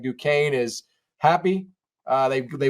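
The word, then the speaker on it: Duquesne: basketball versus who doesn't based on how they pronounce duaine you got those duesy folks out there you know they never follow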